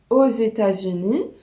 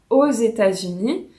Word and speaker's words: aux États-Unis: Donc par exemple, comme aux États-Unis, note ici la prononciation, le X se prononce avec le E et il a le son d'un Z, donc aux États-Unis.